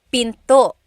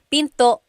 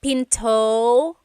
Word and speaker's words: pinto: Door in Tagalog is pinto. Pinto. And remember, don't forget the glottle stop. Don't forget to stop the sound at the end. That's called a glottle stop. Pinto. It's not Pinto, it's Pinto.